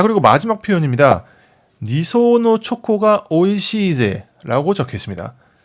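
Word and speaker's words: 二層: 자 그리고 마지막 표현입니다 니소 초코가 오이시 이제라고 적혀 있습니다 이걸 번역하자면 두 겹으로 된 초콜릿이 맛있다고 정도가 되겠습니다 하나씩 볼까요요 한자는 우리가 1층 2층 3층 할 때 그 층이라는 한자인데 일본어로 소라고 읽고요 물론 알아두면 좋겠지만은 따져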